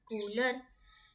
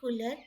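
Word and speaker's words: couleurs: e u r s cooler s is silent like cooler we all know it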